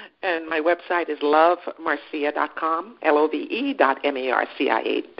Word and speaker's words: Marcia: type in my name Marcia it's not a Marcia but it's spelled ma are CIA and it's pipe